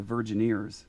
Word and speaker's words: Virgineers: But the name of this band is called the Virgineers, like Virgin Ears, but only it's spelled like engineers.